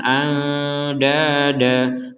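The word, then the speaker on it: أَنْدَادًا: ya Min dunillahi andada perhatikan di sini ada tanwin fathatain di atas huruf Dal kita bacanya barusan andada Padahal di sini tulisannya and dan Jadi huruf Dal yang kedua ini huruf dalnya harakatnya fathatain itu dan tapi kenapa kita bacanya barusan Da jadi dipanjangkan dua harakat jawabannya karena kita berhenti maka yang awalnya dan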